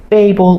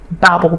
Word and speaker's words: Babel: Sometimes people say babble because it's all about language and babbling and and the different languages. But yes, the tower of babel some people say.